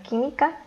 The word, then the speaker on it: química: Después tenemos la palabra química, que es una palabra esdrújula y debe ser acentuada en la antepenúltima sílaba.